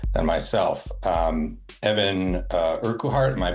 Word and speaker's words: Urquhart: Um, Evan uh Urkuart. Am I pronouncing that correctly? It's just Urkheart. Urkart.